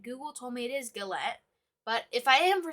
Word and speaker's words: galette: was correct and google told me it is galette but if i am for some reason pronouncing it wrong please let me know in